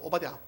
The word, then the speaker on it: 오바댜: 오바댜. 근데 빨리 발음하면 이름이 안 되죠. 오바댜. 발음이 안 되기 때문에 천천히 합니다. 이 오바댜 시종이 엘리야를 만납니다.